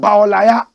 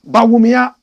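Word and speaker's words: Bawumia: Some people have turned his name around and they call him Baolaya. Correct pronunciation, Baomia.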